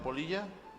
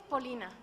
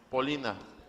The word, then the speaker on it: Pollina: ¿Está bien pronunciado Polilla? No, de hecho es Polina. Polina.